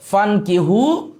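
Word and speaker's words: فَانْكِحُوا: তো আমরা এখানে পড়ার সময় আলিফের উচ্চারণ বাদ দিয়ে পড়বো ফানকিহু, অতঃপর বিবাহ করো।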